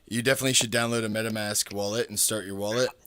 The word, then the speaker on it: MetaMask: You the things you are saying, the Madam Max. I do not know how you pronounce it, but I do not. I don't have that app. So it's Meta Meta Mask MetaMask.